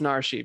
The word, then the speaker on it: Narshe: It's pronounced Narshe, because guess what?